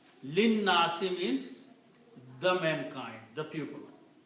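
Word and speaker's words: لِلنَّاسِ: But when you combine together, you do not pronounce this alif. This lam combines with the noon.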